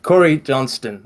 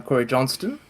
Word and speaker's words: Corey Johnston: of times don't worry as long as people can pronounce the T that's all I need gotcha uh okay so for who I am I'm Corey Johnston uh sometimes you'll see